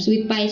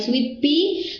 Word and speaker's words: sweet pea: Bukan sweet pie, sweet pea, Turkish rose dan gladiolus.